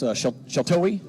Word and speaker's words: Sheltowee: Sheltowee Trace, is that how you say it? Yeah, pretty close. Sheltowee. I think there's a couple different pronunciations, but okay.